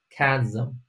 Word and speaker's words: chasm: 叫做 chasm，但别读成 chasm 啊，chasm，叫做深坑裂缝，一